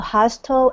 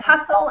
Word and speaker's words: hustle: yes prompt uh Mika what is the the hasto and hasto and basto means so that one is actually pronounced without the L Sound it's hle or